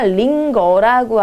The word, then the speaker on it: 링거: 그 다음에 링겔이 아니라 링거라고 하죠. 링거. 영어 발음 보시면서 한번 살펴보시면 되겠습니다.